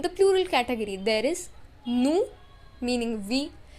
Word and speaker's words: nous: Now in the plural category, there is nous meaning we. Remember, in French, we do not pronounce the last consonant.